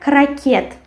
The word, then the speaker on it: крокет: Then we have, after muesli, we have крокет. In English it will be croquet. And in Russian it will be крокет, and we write T and we pronounce T. And the stress falls on the last syllable.